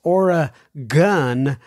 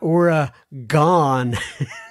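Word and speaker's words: Oregon: the Pacific Northwest also it's Ora gun not Ora gone no I have asked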